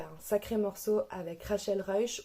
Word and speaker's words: Ruysch: un sacré morceau avec Rachel rush ou Rachel Reich pour le prononcer à la flamande donc Rafael Reich c'était